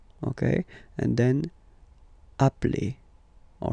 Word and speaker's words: appelle: You tend to pronounce it like really open.